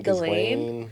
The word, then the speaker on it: Ghislaine: Ghislaine.